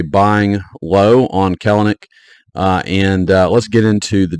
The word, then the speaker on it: Kelenic: Looks like Kelenic, but it's Kelenic.